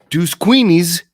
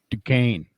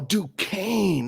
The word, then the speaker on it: Duquesne: Oh, I forgot also hometown favorite from Deuce Queenies. Ain't that how you say it, JT? Deuce Queenies? Very close. Very close. No, that's how you say it in Ohio. In Pennsylvania, we say Duquesne. Oh, Duquesne. That's right, because I forgot there's no K in the Q.